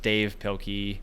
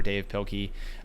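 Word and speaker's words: Dav Pilkey: Um it's either I think it's pronounced Dave Pilky um the author Dav or Dave Pilky uh who wrote those and um those were fantastic.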